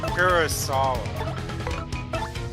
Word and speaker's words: Kurosawa: You know Kurosawa? Pronounce his name again, please. Kurosawa.